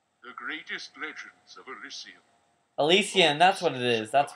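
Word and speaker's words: Elysium: Fallen to dust the greatest legends of alysium alysium that's what it is that's what that's how you pronounce it what was once a land of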